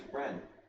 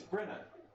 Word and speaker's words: Brenna: No, I don't think it's Bren. That's literally how it's spelled. Is it? It's Brenna. Like the coffee.